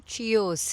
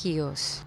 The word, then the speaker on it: Chios: I'm like, I headed to Chios. She's like, sweetheart, it's Chios.